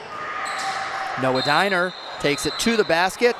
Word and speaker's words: Diner: correction on the pronunciation it is no.1 arielle diner not döner and we have that